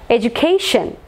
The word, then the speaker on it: education: Education. Last syllable.